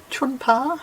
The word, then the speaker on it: Tjunpe: known as simpsons gap it doesn't um spell how you pronounce it i can never get my tongue around them but apparently chun pa is the correct pronunciation so this is i